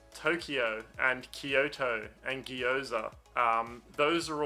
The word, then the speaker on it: Kyoto: of the japanese words so when you have a compound sound in japanese it becomes one sound so instead of kyoto it will be pronounced kyo kyoto not kyo and it's the same with